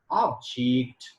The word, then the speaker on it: object: different for example i when i use object as now i have to pronounce it as object object and as a verb object object when i say progress